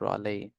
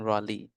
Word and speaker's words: Raleigh: Richard Greenville led the expedition all right it's pronounced Raley I mean Raley Ry r a w l e e that's the pronunciation of this word Raley so s Walter Sir Walter Raley okay so angel can you read this passage